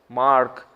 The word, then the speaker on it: mark: you say dark and mark. I don't complain, because I also say like that. But actually, they pronounce it like hard, mark. R is half silent, at least half silent.